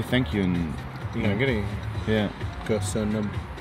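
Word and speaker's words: Köszönöm: Kösönöm. Kösönöm.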